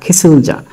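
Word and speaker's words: 기술자: গিসা অর্থ গাড়ি চালক কিয়ক কিয়ক শুরুতে থাকলে হবে খ দিলাম ই খি শিউতের উচ্চারণ হবে স এর সাথে দিলাম উ স নিচে গেল রিউল হয়ে গেল ল খিসুল খিসুল খিচুল জিউতের উচ্চারণ হবে যা জর মতো আকার দিলাম যা খিসুল যা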